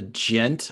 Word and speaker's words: degen: bit of a a gent or degent section what's the correct way to say that it's gent like gentlemen all right yeah what's